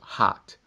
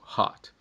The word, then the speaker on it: hot: no dicionário da Cambridge, a palavra hot não é pronunciado com A, como se fosse no português, senão seria pronunciado hat. É mais o A americano, que é uma mistura entre o A e o O, que seria o hot.